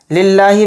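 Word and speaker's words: لِلّٰهِ: निकालना है लिल्लाहि लिल्लाहि में जो लफ्ज अल्लाह का लाम है इसको बारीक पढ़ना है मोटा नहीं पढ़ना है क्यों क्योंकि इस लफ्ज अल्लाह के लाम से पहले जेर है इसलिए इस लफ्ज अल्लाह के लाम को बारीक पढ़ेंगे लिल्लाहि रब्बिल रब्बिल र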